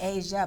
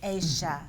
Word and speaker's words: Aysha: Aysha. Aysha. I keep wanting to say Asia, but it's Aysha.